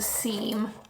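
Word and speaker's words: Cyme: Again, this is a seam cuz it's spelled C Y M E.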